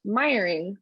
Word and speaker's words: Meijering: am admiring you wellness my last name looks like someone just pounded on a keyboard um but it's pronounced miring which is why my